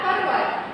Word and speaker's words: पर्वत: तो किसी अक्षर के ऊपर अर्ध र लगाने से अक्षर से पहले आधे र का उच्चारण ध्वनि के साथ होता है, किसी उच्चारण के बाद वाले अक्षर में लगाया जाता है।